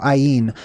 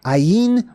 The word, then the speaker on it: ayin: can see mem uh looks like an I exactly how it's pronounced basically I on basically that last part is different but I it means an I